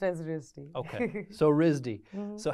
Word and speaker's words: RISD: It's pronounced as RISD. Okay. So RISD.